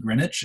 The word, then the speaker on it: Greenwich: meridian is actually here in greenwich this is pronounced greenwich in england because as the people were being